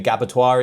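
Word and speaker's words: Gabbatoir: And the reason why it's called the gabbittoire is because it round it rhymes with abbittoire.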